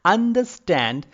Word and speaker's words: understand: Understand is basically a word of three syllables. Understand. Okay, and I'm giving more stress in the third part of the word, that is stand.